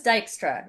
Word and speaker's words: Dijkstra: So do you want to try the pronunciation on the record or Dijkstra. close? Dijkstra as the algorithm. Dijkstra. Dijkstra. Dijkstra.